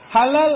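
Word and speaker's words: حلال: Halal ada ejaannya. Ha, lam, alif, lam. Halalun. Ada peniaga tipu. Dia tak taruh sijil halal. Hulul. Ha, lam, lam. Hulul. Hulul itu memang bukan halal.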